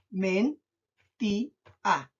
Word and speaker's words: mentía: Men-ti-a. Men-ti-a. Tres sílabas de nuevo.